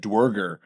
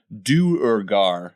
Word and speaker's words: Duergar: butchering it over the years and just said dger but it's one of those things where uh